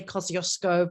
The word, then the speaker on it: Kosciuszko: And I'm going to mangle the word because we Australians say Kosciuszko, but apparently that is not the proper Polish pronunciation. So from Kosciuszko, and which is a great example of Aboriginal activity.